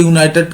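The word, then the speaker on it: United: উচ্চারণ বেস্ট অনুযায়ী হয় ইউনাইটেডের উচ্চারণে ইউ আসছে ইউ ইউনাইটেড উচ্চারণে কি আসছে ইউনাইটেড ইউনাইটেড উচ্চারণে কি আসছে ইউনাইটেড উচ্চারণে তোমার আসছে ইউ এইযে ইউ আসছে ইউ থেকে ওই জন্য তোমার হচ্ছে এন হচ্ছে না ইউনাইটেড যেহেতু ইউ আছে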